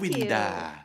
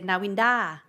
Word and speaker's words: Nawinda: But Thai people always mispronounce it. They say Navinda, Navinta, Vanida.